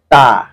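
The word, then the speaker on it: ت: লাগিয়ে উচ্চারণ করতে হয় তা। দেখেন, আপনি জিহ্বার আগা সামনের উপরের দুই দাঁতের গোড়া, উপরের দুই দাঁতের গোড়ার সঙ্গে জিহ্বার আগাটা লাগায় শুধু খুব স্বাভাবিকভাবে বের হয়ে আসবে তা তা।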